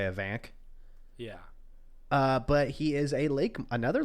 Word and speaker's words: Afanc: So it's a Welsh name. So pronunciation is Avanjk. So Avanch. Oh. I'm just gonna say Afanc.